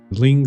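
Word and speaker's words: Zlín: It's just a really small, really quick Z. Zlin City, that's it.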